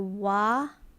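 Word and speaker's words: 와: Just think of it as wa water then that's wa or wasp. I think that will be more accurate wasp.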